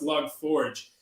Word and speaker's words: Log4j: i come across oh this is actually supposed to be pronounced log forge i made like a